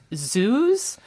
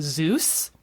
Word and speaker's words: zoos: I did a thesis about zoos, which is a word I have to pronounce carefully because people usually think I'm saying Zeus.